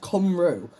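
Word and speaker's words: Cymru: This word right here is pronounced kamro and it's actually a Welsh word.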